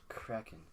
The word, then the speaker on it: kraken: And it's pronounced kraken.